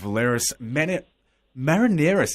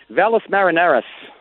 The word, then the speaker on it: Valles Marineris: is out at the moment and the records Valeris minute Marineris is that our pronounce it to Valles Marineris Valles Marineris is out now it's absolutely cracking